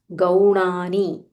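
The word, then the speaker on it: गौणानि: न this is न so when you are pronouncing make sure the difference is Audible गौणानी गौणानी एंड इट्स नॉट इफ यू सी इन all these three places it is knee it इज़ not knee not दीर्घा यानी नामानी गौानी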